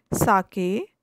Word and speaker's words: sake: Sake, a popular Japanese drink. Sa is pronounced like fa in father, and ke rhymes with way. So it's sa ve, fa ve.